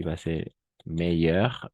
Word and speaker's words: meilleur: Meilleur, meilleur, meilleur, meilleur. Ahora sí, a nivel de pronunciación no hay mucha diferencia. Va a ser la misma. No hay diferencia, va a ser la misma siempre.